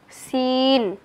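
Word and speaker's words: سين: উচ্চারণের স্থান জিহ্বার আগা, সামনের নিচের, দুই দাঁতের পেট ও আগার সঙ্গে লাগিয়ে সিন, সিন।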